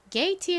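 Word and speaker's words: gate: 단어 발음이 어떻게 되죠 먼저는 기소리 혹은 지소리 가 난다고 말씀드렸죠 여기서는 기억 소리로 쓰였고 모음이 a e 두 개가 있습니다 그런데 끝에 모음이 2예요 그러니까 첫 번째 모음은 장 모음으로 소리가 나죠 a 소리가납니다 그리고는 티 소리 트 소리가 나고이는 소리가 나지 않아요 그래서이 단어는 발음이 게입니다 게이트의 의미가 뭘까요게 는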